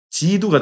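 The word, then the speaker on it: 基督: 기독교의 기독은요, 한자로 기독은 중국식으로 발음하면 지두가 됩니다.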